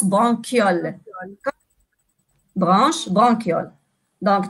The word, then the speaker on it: bronchioles: viol andy bronchioles d'accord blanche ça s'écrit bronchioles mais ça se prononce banque yole branche banque yonne dans